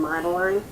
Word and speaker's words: Madeline: The smallest one was Madeline. See, it rhymes, shine and Madeline.